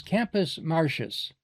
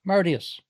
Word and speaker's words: Martius: First, the accepted pronunciation is Campus Martius. But it's Latin. So it should be pronounced Martius.